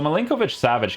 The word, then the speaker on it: Milinkovic-Savic: So, Milinkovic-Savic, guys, you definitely can use in the meta of FIFA 100%.